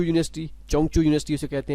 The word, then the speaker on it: Zhengzhou: करेंगे चें चू यूनिवर्सिटी चंग चू यूनिवर्सिटी उसे कहते हैं तो वैसे हम जेंज यूनिवर्सिटी इससे कहते हैं तो चाइनीज में उसे इसे जो है प्रोनाउंस एट करते हैं चंग चू यूनिवर्सिटी ठीक है चंग चू